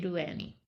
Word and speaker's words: Ado Annie: yeah you knew Edo how did they say Adu Annie Adu this is from Oklahoma right is okay I believe that's how it's pronounced cuz when I was